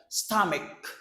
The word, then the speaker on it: stomach: Stomach. Stomach. Do not say stomach, please. That's not correct.